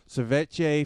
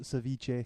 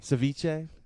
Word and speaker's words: ceviche: in Austin are churning out Delicacies such as setee fish and chips and Vietnamese Apple kebabs it's pronounced Ceviche Ceviche yeah oh okay but I'm still it it